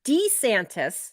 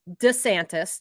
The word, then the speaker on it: DeSantis: So supposedly there's DeSantis, like with the long E. There's DeSantis, just kind of like not putting the emphasis on it.